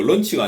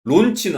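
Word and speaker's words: launch: 이거 런치가 아니고 발음 런치하고 런치는 다릅니다. 그죠? 런치는 점심이죠. 론치는 알지? 론치예요.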